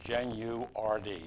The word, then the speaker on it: Genuardi: The proper pronunciation is Genuardi. You pronounce all That's syllables.